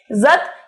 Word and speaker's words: जत: दोनों का मतलब दोस्तों जत होता है, ठीक है। जत या आप जात भी बोल सकते हो, वैसे आपकी किताब के अंदर जात लिखा हुआ है पर इसका सही उच्चारण जत होगा, ठीक है।